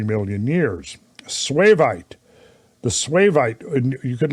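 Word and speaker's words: suevite: So what did you find for the definition of swavite? It's spelled S-U-E-V-I-T-E.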